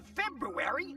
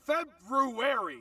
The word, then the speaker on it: February: February. It's pronounced February. No, it's not. Yes, it is. Say it right. Look at the spelling, you dick. You want me to skip a whole R?